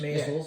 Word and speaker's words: Maysles: Maysles, yeah. Maysles, I get that pronunciation mixed up sometimes.